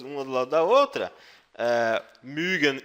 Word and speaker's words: mögen: Quando você pronuncia o verbo mögen, você meio que faz um biquinho, como se fosse uma vaca mugindo, tá? Tá? Soa meio esquisito esse negócio de biquinho, mas é a melhor forma de explicar. Mögen, tá? Se não tivesse o trema, você pronunciaria Morgen, tá? Morgen, não Mögen. Mögen, sim, Morgen.